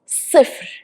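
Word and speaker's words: صفر: zero in arabic is suffer suffer so start with sod which you need to pronounce it harder than sin which is s it's sad suffer second we have wahed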